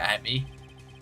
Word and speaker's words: Atmey: Look at me, Luke Atmey are the same. Yeah, it pretty much, it's pronounced the same way, just spelled differently.